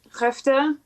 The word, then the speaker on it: Skövde: And after our show in Skövde, it's spelled completely differently, but I remember he pronounced it Skövde.